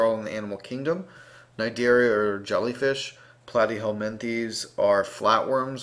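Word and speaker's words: Cnidaria: Periphera, Nidaria, the sea is silent.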